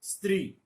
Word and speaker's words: स्त्री: कुछ लोग इनको उच्चारण में ई लगा देते हैं, स्त्री बोलते हैं। यहां स्पष्ट से पहले कुछ लोग अ भी लगा देते हैं भ्रमवश, बोलते मैं आपके सामने स्पष्ट करना चाहता हूं। बहुत हास्यास्पद उदाहरण बन जाता है। इस तरह स्कूल को स्कूल बोल देते हैं कुछ लोग। ये वास्तव में इससे पहले कोई अन्य स्वर नहीं है, लेकिन इसको उच्चारण थोड़ा सजग होकर करना होता है, इसलिए लोग इसमें गलती कर जाते हैं।